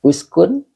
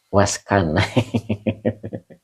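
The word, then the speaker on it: اسكن: Uskun fi'il amar ya gitu. Maka engkau tetaplah begitu ya, tetaplah tegar maknanya gitu. Waskan bukan waskan ustaz. Uskun ya.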